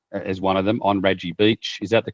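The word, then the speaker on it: Radji Beach: So I've put down as one of them on Raji Beach. Is that the correct pronunciation?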